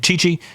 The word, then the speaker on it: Chichi: gets the name of chichi um some people have tried to clean this up a little bit and spell it with t CI T CI but it is chi chi which is Spanish um and easily to